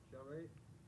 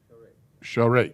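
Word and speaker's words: שרת: You separate them? Huh? Sharet. Shah is circle that, and then rate is together, right? Pronounced? Yeah. Okay. Sharet.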